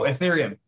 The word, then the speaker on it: Ethereum: um uh uh urethra i'm forgetting how to pronounce that oh ethereum ethereum okay yeah sorry yeah so a lot